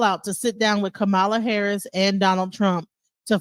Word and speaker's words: Kamala: Yeah, so he did a call out to sit down with Kamala Harris and Donald Trump to find out what each person was going to do for the.